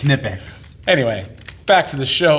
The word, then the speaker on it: Knipex: about knipex then huh no it's it's not knipex it's nipex anyway back to the show ladies and gentlemen